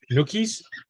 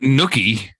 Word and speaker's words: gnocchi: Not nookie. Gnocchi. Are you referring to gnocchi? You could say it like that if you want to.